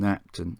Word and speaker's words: Knapton: the next station of paston and napton or pronounced parson and napton as i've been told it served the two